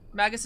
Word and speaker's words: Magus: thank you Matt uh Magus is a soft G always pronounce it harji Magus can technically use